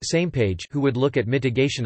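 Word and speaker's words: SMPAG: missions planning advisory group SMP AG pronounced same page who would look at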